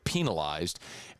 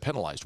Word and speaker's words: penalized: why does he say penalized instead of penalized? Well, if you go look in Webster, the preferred pronunciation of the word is penalized, not penalized. It's like the penal system.